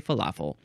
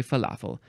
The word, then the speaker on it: falafel: I don't know but I say Falafel and you say Falafel and these are so